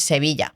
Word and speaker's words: Sevilla: In English, it's Seville, but in Spanish is Sevilla.